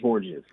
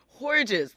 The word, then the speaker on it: Hordges: name properly for me so it's pronounced hores hores thank you so much